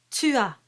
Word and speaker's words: tua: Tua. Tricky one. You don't want to say tua. And there's no W sound. It's tua.